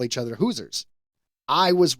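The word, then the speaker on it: Hoosier: Indiana, it actually is like Hoosers. I was completely off. I think I said Hosier.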